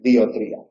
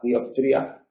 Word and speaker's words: dioptría: no es dioptría, y tampoco hay que hacerla desaparecer, no hay que decir diotría. Hay que pronunciarla relajada, dioptría, pero en una pronunciación cuidada hay que tener.